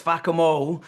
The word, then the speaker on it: Fackham: Well, it doesn't work in my accent because I'm Irish. I say fakam hall and people go, "Why is that funny?" And then a cockney guy comes along, says fakamo.